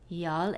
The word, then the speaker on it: y'all: Y'all es una contracción entre las palabras you y all. Se pronuncia como y'all, y'all, y'all.